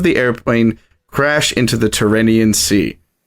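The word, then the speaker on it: Tyrrhenian: airplane crash into the tyrannian sea I hope I pronounced that right turanian I've heard it both ways I think so yeah um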